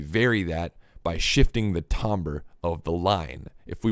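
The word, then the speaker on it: timbre: this is a um tomber it's spelled t IM BR e tomber it's pronounced differently than it's spelled and the the thing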